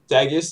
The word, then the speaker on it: daggiest: daggiest story about yourself daggiest is that how you pronounce it is it daggiest yeah uh yeah dagus is right okay um daddy's story